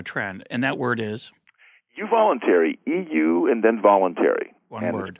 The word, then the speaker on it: euvoluntary: start of a trend and that word is you voluntary EU and then voluntary word pronounced you voluntary it looks like your spell check is going